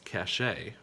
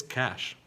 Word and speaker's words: cache: this one you might pronounce it as cache however it's pronounced just like that green stuff that we all really like it's cash now what about the next